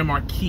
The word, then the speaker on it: Marquis: seven grand marquis gray marquee you don't pronounce the s um and i'm gonna